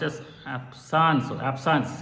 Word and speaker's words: absence: absent seizure absent seizure means uh actually it's pronounced as hapsan so absence it's french word absence means actually